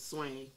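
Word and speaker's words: Soigné: It's a garden place, Swang. That might be how you say it.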